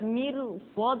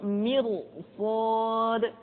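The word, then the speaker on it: مرصاد: contohnya misalkan inbakail mirad tidak dibaca mirsad tapi mirsad Kenapa Karena setelah huruf ro diikuti oleh huruf istilah dan yang terakhir R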